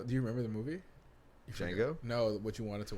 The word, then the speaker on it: Django: it just escaped me django the d is silent sam jackson [ __